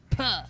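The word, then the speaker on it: Pugh: Puh.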